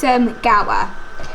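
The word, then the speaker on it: Gowar: It's Gower, like Power and Gower Street.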